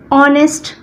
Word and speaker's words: honest: For example, an honest boy. An honest boy. Here again it is O. An H is silent in this word.